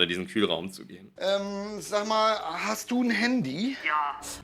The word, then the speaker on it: sag mal: Okay, ja, er sagt, sag mal, hast du ein Handy? Hier auch wieder hört ihr das Wort sag mal. Er sagt, sag mal, ja. Auch wieder die Aussprache G als CH, wie vorher auch, ja.